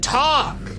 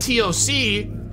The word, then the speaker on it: TOC: I'm supposed to pronounce it talk, not TOC.